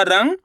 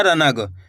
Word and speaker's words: रंग: आपको करने के आधा नाक का उच्चारण निकालना है, तेजी के साथ इसका उच्चारण निकलेगा नाक से, रंग। इस तरीके से आपको इस तरीके से नहीं पढ़ना रनग। अगर रनग पढ़ोगे तो यहाँ पे ना का पूरा उच्चारण हो रहा है।